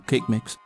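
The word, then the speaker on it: Kaqemeex: begin the quest by talking to cake mix south of the heroes guilt and yes apparently that's how you pronounce his name moving on choose the chat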